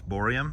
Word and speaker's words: borium: you saying it right I was saying barium but it's borium yeah borium okay and you've done this